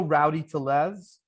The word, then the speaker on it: Rowdy Tellez: Also, Rowdy Tellez, as I believe how you say his name.